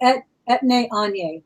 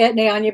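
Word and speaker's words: Etienne Aigner: I say Etne Anye, but I could be wrong.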